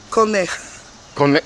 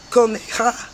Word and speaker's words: Coneja: Because in Spanish, how you pronounce it? Coneja. Huh? Coneja.